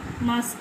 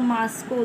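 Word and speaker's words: Moscow: तू नेट बेटे से मास्को और मास्क को दोनों बोलते हैं ठीक है है न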